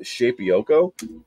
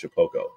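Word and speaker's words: Shapeoko: So I was calling it Shapioko because that's how it's spelled. That's Jacob Griffin again. Yeah, Jacob. So it's spelled Shapioko, but it's pronounced Shapoko.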